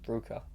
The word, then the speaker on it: RVCA: I always get the name wrong. Ruka.